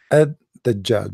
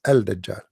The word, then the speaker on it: Al-Dajjal: They say Ad-Dajjal, because in Arabic here there is L, but they are trying to supposedly to teach you how to pronounce it. So Ad-Dajjal, they make it shorter. But the fact it is Al-Dajjal.